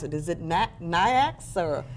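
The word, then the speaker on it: NAICS: pronounce it is it niax or how do you pronounce that i pronounce it next so i could be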